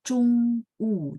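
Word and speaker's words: 中午: Oh iya, Laoshi bilang ya, memang bacanya Chung U, tapi tulisannya O. Tidak akan ada ZHOUNG, nggak ada ya. Adanya ZHONG. Nah, Chung U itu adalah siang hari dari jam 11 sampai sebelum jam 1.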